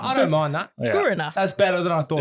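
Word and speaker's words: Kuwarna: So to pronounce it more correctly, emphasize the first part. Guarna, not Guana.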